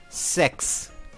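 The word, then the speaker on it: sechs: In German it is called patile de sex with sex meaning six specifically written s e c hs but you pronounce it sex.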